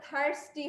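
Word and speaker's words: thirsty: ওকে বাবা, প্রোনাউন্সিয়েশনটা ঠিক করে নাও, এটা থার্স্টি হবে, ওকে, টেস্টি না কিন্তু।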